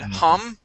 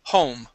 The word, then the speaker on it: home: sound this time okay home you had said hum okay ho home home there you go yep